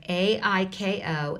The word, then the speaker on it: ICO: the ICO spelled is that the way I pronounce that a CO or iko iko iko yeah ai ko and igor EG 0 r tell us about